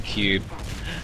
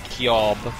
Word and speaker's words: Cube: So am I supposed to pronounce his name Cube? Yeah, supposedly it is That Cube. kind of makes sense. Oh. It'll be better than Kyob. Good to Now- know, good to know.